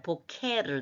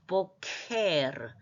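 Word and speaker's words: בֹּקֶר: 입 앞에서 나는 발 보케르 너무 이렇게 하지면 보케르 좀 중간쯤에서 크 발음을 하면 좋겠어요 보케 보가 엑센트 있습니다 보케 아침인데 알파벳을 풀이하면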